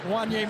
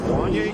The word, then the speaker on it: Wanye: Gary said You know, in the media guide, in the pronunciation, it says, is it Wanye? Because he said it looks like it rhymes Right, with that Kanye.